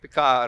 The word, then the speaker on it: Picard: the icard yeah so D is never pronounced R is just touched like this spirit because Laura